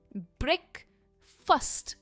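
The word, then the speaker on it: breakfast: और इसकी प्रोनाउंसिएशन है ब्रेकफास्ट। हम फास्ट नहीं कहते, ये है first, it is first. Okay, ब्रेकफास्ट। All right, बढ़ते हैं नेक्स्ट सेट ऑफ वर्ड्स की तरफ।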